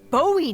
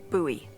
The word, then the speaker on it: Bowie: no warning he pulls out this huge Rusty boy knife it's actually pronounced buoy what no it's like the last name like